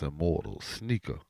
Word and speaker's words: SNKR IMMRTLS: And don't forget to follow S N K R I M R T L S pronounce immortals sneaker.